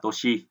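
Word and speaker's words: 年: Cái âm ông của chữ niên thì đọc là nên, và âm cưng thì là toshi.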